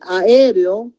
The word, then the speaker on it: aéreo: A veces aéreo, decimos es palabra bisílaba, porque ponemos AE, una sílaba, y reo, otra sílaba. Y no es así. Aéreo, se están partiendo las vocales fuertes. A es una sílaba, E es otra sílaba. R con E es otra sílaba y O es otra sílaba. Por consiguiente, es palabra tetrasílaba, ¿no?